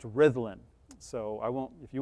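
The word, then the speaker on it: Rhuddlan: this village it's called rithlan so in welsh the double d is pronounced like a th and uh while we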